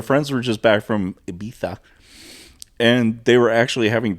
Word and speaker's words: Ibiza: But our friends were just back from Ibiza. Is that how you say it? That is how you say it. Oh my gosh. Ibiza.